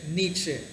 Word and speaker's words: Nietzsche: How will you pronounce your first name again? Friedrich. Friedrich Nietzsche. Nietzsche. So, if you are into philosophy and if you want to know more about this guy Friedrich Nietzsche, this is the right place, and if you're